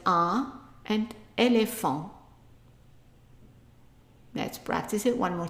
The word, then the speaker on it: éléphant: And so A, and then L followed by an E with an accent, le. So A, le. PH, F. AN, whenever you have an AN followed by a consonant, it's pronounced on. So it's A, le, fon. T at the end most of the time is silent. So I underlined it here, meaning that we are not pronouncing it.